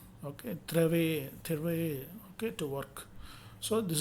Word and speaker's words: travailler: Final er always pronounced a, like English word day. Okay. Santé. Okay, it is chanter, danser, parler, travailler. Okay, travailler.